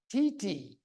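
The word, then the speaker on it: titi: Okay, I mispronounced this tree a lot till I finally got into trouble and Lisa corrected me. It is swamp TT.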